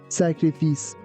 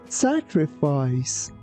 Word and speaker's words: sacrifice: Here, be careful that first letter C sounds like C and the second one sounds like S. Also keep in mind that we don't say sacrifice, we say sacrifice.